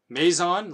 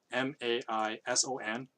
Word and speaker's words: Maison: It's Maison, like the house, Maison, space Ikoku, Ikkoku.